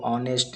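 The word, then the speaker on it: honest: इसमें एन लगेगा दोस्तों क्योंकि एच को ओ ऑनेस्ट इसको पढ़ा जाता है तो इसमें एन लगेगा दोस्तों वोवेल का उच्चारण option B correct answer नेक्स्ट दोस्तों यहां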